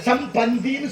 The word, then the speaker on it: சம்பந்தி: விஷயங்களாக அப்ப சம்மந்தின்னு கூப்பிட்டோமா சம்பந்திக்கிற வார்த்தை உச்சரிப்பு தப்பு எப்படி சம்முனா நல்ல மந்தினா குரங்கு வாங்க நல்ல குரங்குங்கிறான் அவரும் ஆமா குரங்குன்னு சோறு தின்னுட்டு போறான் சரியான அப்படி சொல்லக்கூடாது எப்படி சொல்லணும் சம்னா நல்ல பந்தினா உறவு வாங்க நல்ல உறவு சம் பந்தின்னு சொல்றோம் சம்பந்தின்னு தாமதமா வந்தா